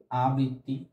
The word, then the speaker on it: আবৃত্তি: আমাদের তিনটে অক্ষর আছে সেই অক্ষর ভেঙ্গে কিন্তু আমরা উচ্চারণ লিখে দিলাম আ বৃত্তি এখানে ঋকারটা বহাল আছে